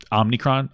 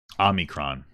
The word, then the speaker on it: omicron: me look it up omicron is how you say it mine's better i'm going